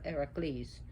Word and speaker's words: Heracles: And when he got up, and one of the stories of when she wanted to fuck with Heracles, which is Hercules, or we say Hercules, but it's Heracles, and he really thrashed the other gods.